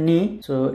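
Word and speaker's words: noc: এরপর হচ্ছে এন, কিন্তু ওরা এন কে উচ্চারণ করে হচ্ছে নি। সো এই শব্দের উচ্চারণ হচ্ছে নস, নস মানে হচ্ছে নাইট।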